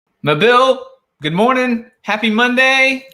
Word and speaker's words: Mobile: I think as long as the stress, the accent is on the second half of the word, right, you're doing fine.